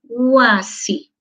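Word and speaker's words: wasi: No suena como una U, huasi. Pero cuando está escrito trabaja como consonante. ¿Y por qué no lo escribo yachachi jacá con U, huasi, como escucho? ¿No es cierto? Así con U. Porque no está permitido... Dentro de nuestra regla gramatical, dos vocales juntas en una misma sílaba. No está permitido. Entonces, wa, sí. Esa wa está en la misma sílaba. Entonces, esta u es w.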